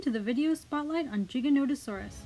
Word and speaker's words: Giganotosaurus: the video spotlight on Giganotosaurus sometimes pronounced you cannot asaurus depending on where you look online or who you ask a generally more perminov